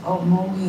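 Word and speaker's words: Okmulgee: For those that don't know, man, how do you pronounce the town that you grew up in? Mogi, Oklahoma.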